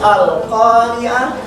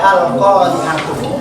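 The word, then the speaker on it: القارعة: Nah, di sini karena dibacanya harus Al-Qari'ah, berarti tutup dengan se. Al-Qari'ah. Jadi supaya tidak Al-Qari'atu, tapi Al-Qari'ah.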